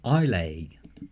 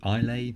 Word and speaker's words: Islay: plane in 1994 it was the island of Islay oh is lay I'll a Hopi a plan that pronounced accurately I'll a question number three Japan's